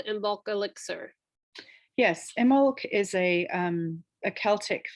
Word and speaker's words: Imbolc: a time it's pronounced e molk there's a silent b in the word um but it's it's